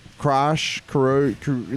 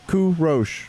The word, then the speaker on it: Kourosh: people would also have a hard time saying my name they like crash karoku like they couldn't just just the inflections everyone ethically yeah it's a phonetic I was like kourosh like